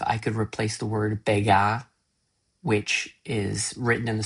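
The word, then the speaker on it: begar: could replace the word bega, which is written in the script B E G A R but pronounced with like a British French accent. So like a Brit doing a French accent.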